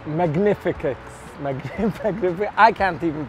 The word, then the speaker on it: Magnificus: the wine is pronounced magnificus mag magn I can't even pronounce it sounds